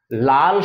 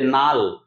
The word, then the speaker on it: লাল: আমাদের উচ্চারণ দেখো লাল শব্দটি কি আমরা বলি না যে নাল অনেক সময়তেই বলি। অনেক পূর্ণ দিনের বয়স্ক মানুষজন তারা লালকে নাল যখন উচ্চারণ করছেন তখন এখানে কিন্তু সম ব্যঞ্জন আছে। দুটি হচ্ছে ল। এই দুটো ল যদি আমরা নাল উচ্চারণ করি তাহলে কিন্তু দন্তন্য হয়ে যায়। মানে এখানে ব্যঞ্জন বর্ণটির মধ্যে একটা সঙ্গতি আছে।